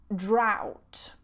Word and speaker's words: drought: you that's really kind so next one ow this sound out so we have drought drought a drought is